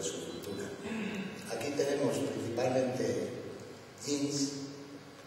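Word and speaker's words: djin: cultura aquí tenemos principalmente jeans se escribe d J i n jin los hay Pues en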